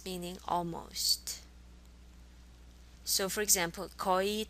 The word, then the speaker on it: 거의: 거의. 거의. 의 is very difficult to pronounce in Korean. If you pronounce it as if it's just 이, 거의, that would be fine.